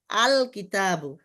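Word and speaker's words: الكتاب: যেমন কিতাবুনের শুরুতে কাফ আসছে, কাফটা এই গ্রুপের, এজন্য আল কিতাবু, লাম যে লাগছে এটা বোঝা যাবে, আলিফ লাম লাগছে।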